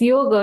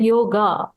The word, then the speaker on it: yoga: cultures it becomes a it's only about short o and long a so it's yoga not yoga but Y and then